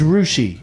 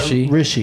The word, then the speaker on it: Hrishikesh: Under pronunciation of your name on your Twitter, it says it's pronounced R-U-S-H-E. So that to me is Rushi, not Rishi. Hrishikesh. Yeah. Rishi should be R-I, not R-U.